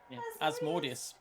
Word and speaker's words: Asmodeus: as badass or asmodeus asmodius it's a traditional pronunciation that's what I said